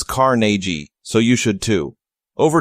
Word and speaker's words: Carnegie: one is used to Andrew Carnegie born Scottish pronounced his name as Carnegie so you should too